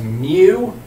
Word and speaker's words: mu: letter mu this is a Greek letter we pronounce this letter as mu they don't have a fraternity on campus with